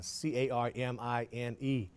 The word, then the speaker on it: Carmine: Her name has C-A-R-M-I-N-E, so I want to say Carmine, but I understand. Because you learned the silent E rule in phonics. That's a good thing. Obviously, I missed that one.